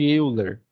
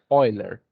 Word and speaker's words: Euler: o número de olha muita gente fala número de Euler número de olha eu não sei se eu acho que ele era suíço e a pronunciação lá é oiler tá é um número